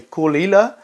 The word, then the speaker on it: Caol Ila: the coal ilas uh that's how you say it you say kulila um these guys are